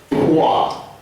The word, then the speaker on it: pwa: And the first syllable is pwa. That is the sound that a happy alpaca makes. And the way it's spelled is very specific. It's P-W-A. So it's W and double A.